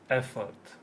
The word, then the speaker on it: effort: So where's the stress? The first syllable on the F. No? And the second syllable is? I mean, very short this one, no? Yes, it's a schwa. So it changes from or, as in John or Peter, to effort. Look, Effort.